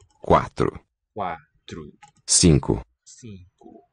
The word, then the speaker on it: cinco: Cinco. N nasalizes that first vowel. And the second is raised from O to U.